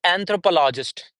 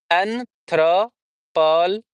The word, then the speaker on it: anthropologist: Then we have anthropologist. Anthropologist. Anthropolologist. Okay. Anthropologist. So, 1 2 3 4 5 Five syllables.